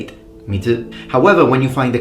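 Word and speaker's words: 水: for, let's say, water, normally when you see the kanji on its own in Japanese, you will pronounce it mizu.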